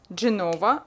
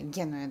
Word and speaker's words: Генуя: Garda, Genova, хотя... Генуя, да, правильно произносить, Генуя.